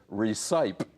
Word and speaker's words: recipe: junior high school, yeah, I said recipe, because that's how it would normally be pronounced.